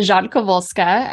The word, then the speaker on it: Rzadkowolska: I have laughed about that but first off pronounce it correctly for us and then tell us about it yeah so it's Jean kovolska um I'm polish and it is actually my